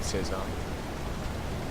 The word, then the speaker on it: Cézanne: Paul Cézanne, as related by Joaquin Gasquet, 1921. Okay. I like Cézanne. Or Cézanne, as they just pronounced it here.